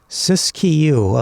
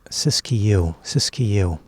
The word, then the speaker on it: Siskiyou: Siskiyou, okay. Now let's see how many minutes I can remember that. But that's the correct pronunciation. Okay. Siskiyou.